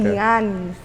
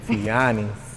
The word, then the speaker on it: Tianis: Say my name right. And I always tell people you gotta say it with a smile. Okay. Tianis. If you ain't smiling, you ain't saying it right. Okay, Tianis.